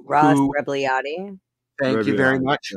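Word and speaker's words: Rebagliati: Ross Ragabludi, I can't pronounce his name. Ross Rebliati.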